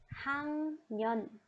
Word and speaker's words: 학년: The pronunciation, there is a little bit change in the pronunciation. 학년.